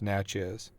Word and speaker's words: Natchez: Natchez yeah that's what it says okay yeah pronounce Natchez I was about to say okay now it's